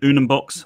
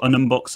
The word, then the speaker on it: Unumbox: And so I went Unumbox or Unumbox at the time.